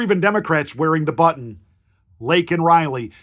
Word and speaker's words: Laken: Democrats wearing the button Lake and Riley he pronounced her name Lincoln Lincoln he didn't get George